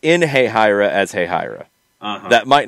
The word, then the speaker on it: Hahira: Soccer for Good OG wants us to pronounce Hahira? Hey, Hira.